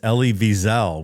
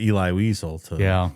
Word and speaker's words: Elie Wiesel: Well, I actually looked up the pronunciation too, and it's Elie Wiesel, which I had never heard it pronounced properly. I always thought it was Eli Wiesel to call on Romney to denounce the practice.